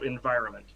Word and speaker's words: environment: But when it's the N and then the M, it's not really pronounced. So environment.